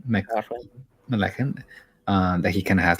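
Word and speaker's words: MacLachlan: No, Laura Dern is like a high school crush that Kyle how do you pronounce his name? McLachlan.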